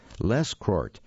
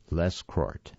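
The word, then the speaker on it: Lescroart: by john t leschkart i'm going to spell that name for you because i'm not completely sure i'm pronouncing it correctly it's l-e-s-c-r-o-a-r-t john t les court sounds like a good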